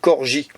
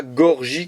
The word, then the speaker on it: Corgi: une petite Mercedes 180 Corgi corps alors là on peut pas le louper alors c'est Corgi c'est pas Gorgi comme beaucoup le prononce là on voit bien